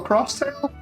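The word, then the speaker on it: X-Tale: just it's so good xtail no it's ninja tail yeah what is it is it xtail or cross Tail cuz obviously xtail sounds is cross right it's bleach put on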